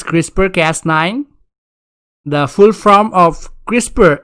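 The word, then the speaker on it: CRISPR-Cas9: how you write it the pronunciation is crispr cast 9 the full form of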